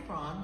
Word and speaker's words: Brawn: It's pronounced Brawn, right? Yeah.